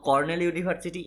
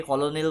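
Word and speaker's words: Cornell University: নাও ইট is published by কর্নেল ইউনিভার্সিটি, অনেকে কলোনেল বলে, ইট is pronunciation হয় কর্নেল ইউনিভার্সিটি।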